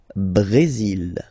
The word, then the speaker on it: Brésil: Le Brésil. Okay, you will pronounce the final L here, and then remember, accent aigu goes like E.